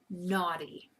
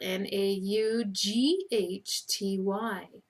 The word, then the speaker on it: naughty: sure that it's spelled n a u g h t y now this is a spelling danger because the GH is silent all you hear is naughty so don't forget the